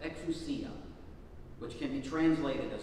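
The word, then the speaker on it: ἐξουσία: Because the Greek in our gospel lesson is exousia is how it's pronounced, exousia, which can be translated as authority, power, or the power of authority.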